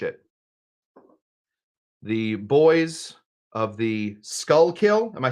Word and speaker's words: Schuylkill: said it right love it okay skull kill skull kill this is it this is the most famous